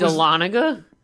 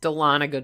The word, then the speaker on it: Dahlonega: Roswell they said Roswell and Dahlonega and that's a Lonnegan is that what it is yeah he's from Louisiana so let's go ahead and give him a break but yes it's Dahlonega Georgia yes they totally should pronounce it the